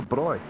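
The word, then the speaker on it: braai: It's um turn five is called barbecue, but of course we know in South Africa there's no such thing. They call it the bri. So turn five should be called bri, not barbecue.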